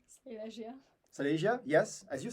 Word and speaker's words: Silesia: You are also a recent PhD student at University of Silesia, am I pronouncing it correctly? Silesia.